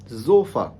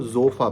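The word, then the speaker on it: Sofa: या जोफा, क्योंकि S start में आ गया ना, अकेला एस अगर किसी वर्ड के स्टार्ट में आ जाए तो देन हम इस वर्ड को जोफा पढ़ेंगे।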